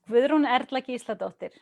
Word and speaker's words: Gudrun Erla Gísladóttir: So my full name is Gudrun Erla Gísladóttir. That's how you would pronounce it if you were in Iceland.